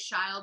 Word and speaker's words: Shile: But Shile, I never can remember. Okay. Oh, I say it rhymes with smile.